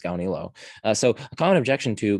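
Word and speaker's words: Gaunilo: to gandhi los lost i've heard some people say guanalo now that's really weird because the a is before the u so why would it be guanolo surely it's ganilo anyway i'm pronouncing it as gaonilo so a common objection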